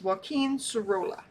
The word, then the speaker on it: Joaquín Sorolla: So it's Wen Serola.